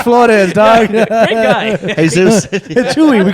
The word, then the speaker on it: Chuy: And I feel like in Mexicans, they spell it like CH, like Latinos spell it CHUY. Yeah. Versus like the other way, which is what, like the regular Chewy way.